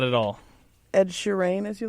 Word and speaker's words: Sheeran: So I've always pronounced his name incorrectly. I've always pronounced it Ed Sheeran, and apparently it's Ed Sheeran.